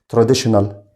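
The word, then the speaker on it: traditional: تاني كده تراديشنال، طبعا TION بنطقها شان.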